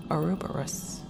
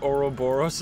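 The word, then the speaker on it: ouroboros: with piano at home arubus did she just say arubus excuse me I've never heard someone ex pronounce the word oroboros that way last exhibit Recreation of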